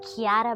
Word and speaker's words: Chiara: It's an Italian name. You pronounce it Chiara, but you spell it Chiara.